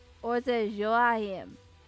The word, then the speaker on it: Joachim: Oh, Joachim. Joachim. So the J is silent. So, and it's a Y. Joachim. And the C is silent.